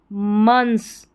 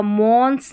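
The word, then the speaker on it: months: बट AF, after a फ्यू मंथ्स, MONTH को TH और S लगाए तो मंथ्स होगा, मॉन्स नहीं होगा, MO को म करके प्रोनाउंस किया गया है, मंथ्स।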